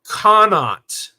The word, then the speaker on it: Connaught: It's pronounced like donut. Oh, Connaught. Oh, okay, Connaught.